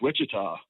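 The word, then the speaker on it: Wichita: Witchita Sean was O Dave Chong corrected me he like man it's Witchita Sean Sean will be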